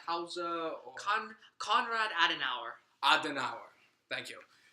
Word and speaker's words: Konrad Adenauer: like speeches from the transferor Conrad how you pronounce house uh come Konrad Adenauer as an hour thank you yeah which I